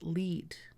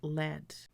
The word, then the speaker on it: lead: both have different meanings one meaning would be to show the way I would pronounce this word as lead I will lead the way to the roller coaster and i screen stand another meaning would be a heavy metal which would be pronounced as LED my tackle box has